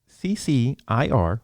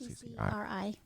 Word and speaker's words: CCRI: And last thing before we get out of here, so the CCIR, did I say it right? Yes. CCRI.